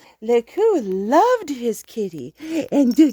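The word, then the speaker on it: Lekeux: belgian soldier named lieutenant lekku who adopted him and if i'm pronouncing his name wrong it's l-e-k-e-u-x laku loved his kitty and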